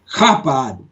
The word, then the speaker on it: Chabad: think it would be pronounced Chabad, like you're clearing your throat.